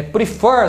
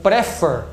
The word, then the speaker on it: prefer: for a última então se você não souber que a palavra prefer é prefer se você achar que for prefer não dobraria ela só dobra porque a sílaba tônica é essa aqui então por exemplo se